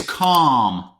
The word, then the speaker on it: calm: Number five is calm. Calm. Listen up. There is a silent letter in this word. Calm. Which one is it? L.